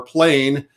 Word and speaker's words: plein: It's a French term, and you can say it plein or plain. It doesn't matter how you say it.